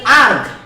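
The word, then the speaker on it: erg: হ্যাঁ, ইআরজি আপনারা উচ্চারণ করবেন আর্গ। হ্যাঁ, আপনারা উচ্চারণ করবেন আর্গ, অনেকে আর্য বলে, যাই হোক 10 টু দি পাওয়ার 7 আর্গ।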